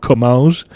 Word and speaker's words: Comminges: I think I pronounced it differently before, and that was wrong. Like, I pronounced it in the Portuguese kind of way, and I don't know why. It's actually called Comminges.